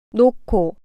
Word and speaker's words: 놓고: 놓고 이 글자에서 받침은 히읗이고 다음 글자에 시작하는 자음이 기역입니다. 그러면 받침 히읗은 사라지고 뒤에 오는 자음 기역은 크로 발음됩니다.